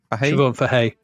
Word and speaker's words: Siobhan Fahey: Is that Siobhan Fahey? Siobhan Fahey, yeah.